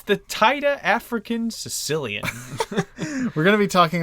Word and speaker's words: caecilian: Caecilian, basically. Caecilian. Sicilian. Sicilian. Pronounced like Sicilian.